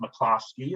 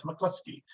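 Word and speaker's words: McCluskey: very used to saying actually my last name is not pronounced MOSI it's pronounce mclusky um we get to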